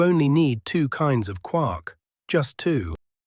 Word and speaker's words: quark: They have a name and the name is quark. Quark? Say it again for me. Quark. One syllable. Near enough rhymes with cork.